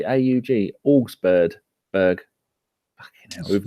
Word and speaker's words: Augsburg: rumours that Nketiah is going to go to Augsburg on loan. Or Augsburg, that's not what it is. It's how do you say AUG? Augsburg.